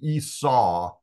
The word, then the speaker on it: Esau: we pronounce that name Esau it's kind of a w sound at the end uh the Au sound is kind of a w sound the majority of Scholars